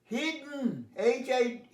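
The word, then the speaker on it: hidden: তেমনি বহু ওয়ার্ড আছে পাস্ট পার্টিসিপলটা উচ্চারণ, যেমন রিটন, ইটন, তো মনে রাখবে রিটন, ইটন, হিডন, তো ইটা সাইলেন্ট হয়ে যায়।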